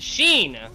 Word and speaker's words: Xin: The Roadhog Xin pronounced Sheen, like Charlie.